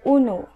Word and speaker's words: uno: Okay, number one is uno. Uno.